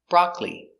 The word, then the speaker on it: broccoli: summer very good so remember these special words with a silent syllable chocolate catholic broccoli actually family or family